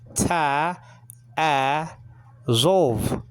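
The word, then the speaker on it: תַּעֲזֹב: Okay, transliterated T-A-A-Z, like in zebra, O-B. Okay, but the B is soft. There's no hardening doggish in the belly of it. Okay, so it's a V sounding letter, just like the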